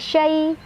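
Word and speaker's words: شيء: ya sukun sebelumnya fathah dibacanya dilunakan atau dilembutkan. Syai, hati-hati bukan syai, bukan syai, bukan ke ain, tapi di depan ya, syai di lidah, di tengah lidah ya.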